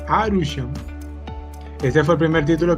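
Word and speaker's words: アルション: la serie se llamaba Alcyon, o como lo se pronuncian en japonés, Arushon.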